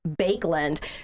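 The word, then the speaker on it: Baekeland: k e l a n d but it's pronounced bakeland so his his first uh invention he called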